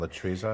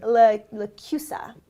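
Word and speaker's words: LaChiusa: I mean, that Michael John Latruza, am I saying it right? Lacusa.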